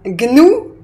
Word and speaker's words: gnou: oublié diagnostic diagnosticque voilà donc ces mots-là se prononcent gne donc mémorisz les bien